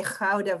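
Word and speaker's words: Gouda: and my family i've never been able to pronounce that gee even when i try to buy cheese i can't say howda very well so um that humor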